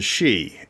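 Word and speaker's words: Sidhe: I wanted to include the she s d h e I have to spell that out because people don't understand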